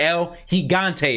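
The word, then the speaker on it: El Gigante: it continue but we see the L the L higante is back I gotta say it right because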